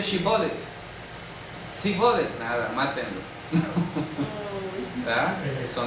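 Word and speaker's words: שיבולת: al norte de Galilea, Dishibolets, y ellos decían Sibolets, porque no sabían pronunciarlo bien. ¿Ya? Entonces ahí era como identificaban quién era efrateo y quién no. A ver, di Shibolet, ¿no? Shibolet, venga, y lo mataban. No pronunciaban la shin.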